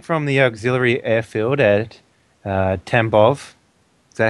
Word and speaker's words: Tambov: So we will be flying from the auxiliary airfield at Tambov. Is that how you say it? Yep. Tambov, yeah.